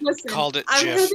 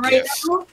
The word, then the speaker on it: GIF: Developers of GIF called it GIF, but other people call it GIF.